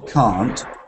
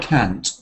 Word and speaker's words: can't: also interesting because um if you have the pronunciation of can and can't that's one way but another way is can and can't just a little change can't but if that little T is missing they can cut our salaries and they can't cut